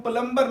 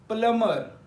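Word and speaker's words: plumber: लेकिन रूल य है एम और बी इकट्ठा आएगा तो बी की आवाज साइलेंट हो जाएगी इसी तरह इसको प्लंबर नहीं पढ़ते प्लमर प्लमर पढ़ते हैं नेक्स्ट रूल य है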